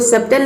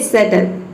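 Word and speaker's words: subtle: उस तरह से यहाँ पे देखिए सटल, इसको सबटल नहीं बोलेंगे, इसको बोलेंगे सटल।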